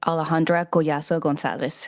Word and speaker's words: Alejandra Kaso Gonzalez: Uh the speaker of this meeting will be Alejandra Gonzalez. Um Alejandra, please. Um the pronunciation of my name is Alejandra Kaso Gonzalez.